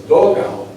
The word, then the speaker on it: dogao: Thus, dogao, D-O-G-A-O, is the best approximation of dugout, because the spelling D-U-G-O-U-T in Spanish would be pronounced something like dugo, except that final T's are rare, dugo.